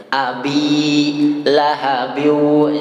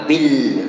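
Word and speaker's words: أبي لهب: Ada yang menambahkan tasydid di situ. Abi lahabiu, bi-nya dipanjangkan dan tidak boleh ditambahkan dengan tasydid. Ya, abi lahabiu, jangan abil.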